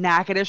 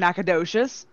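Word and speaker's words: Natchitoches: but can you pronounce nakadish and do you know the difference between nakatish and nakadocious all right then yep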